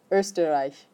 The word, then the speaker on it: Österreich: Österreich. Should we put a pronunciation guide on that one? How about stir, rye. Does that help? No. Österreich. That work?